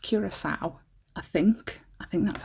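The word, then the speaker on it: Curaçao: because I was like, CARCAO? What is that? Never heard of it, never. But it's pronounced Curacao, I think. I think that's how it's pronounced, Curacao.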